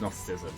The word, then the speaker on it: Gnosticism: I think it's Gnosticism, like the G is silent.